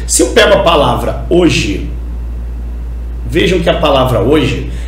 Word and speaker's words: hoje: são dois sílabas Beleza o h você sabe que ele não é pronunciado na palavra hoje não é verdade o